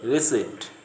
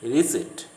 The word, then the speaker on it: receipt: They say receipt. The P should not be pronounced. It is receipt.